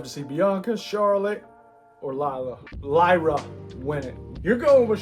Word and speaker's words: Lyra: Lyra, yeah.